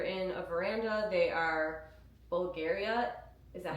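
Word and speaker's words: Bvlgari: If you're in a veranda, they are Bulgaria.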